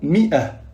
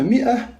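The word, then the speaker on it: مائة: seulement avec le mot mi'ah, qui veut dire 100. Fi kalima mi'ah, on rajoute le Elif, mais ne se prononce pas.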